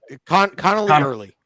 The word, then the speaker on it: Connelly Early: Connelly early.